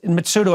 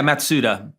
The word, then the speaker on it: Matsuda: kencha mitsudo and Lawrence mitsudo have I got that pronunciation right yeah matsuda matsuta okay um and who would